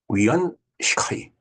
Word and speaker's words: 袁世凱: 그다음에 위안 시카이 위안 시카이 우안스카이 우리 바음하고 조금 다를 수가 있겠네요. 시카 영어 유한 시카이라고 읽게 될 것 같은데요.